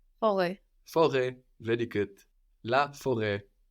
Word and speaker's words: forêt: Forêt. Good, but would you pronounce that last T? Forêt.